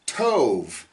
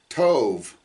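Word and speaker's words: טוב: light from the darkness the word for good is Tove tetv bet Tove Tove all right um and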